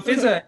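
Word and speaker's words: Fizzaa: There's two a's but it's not pronounced fizzah. It's just pronounced fizza. One of the a's is silent.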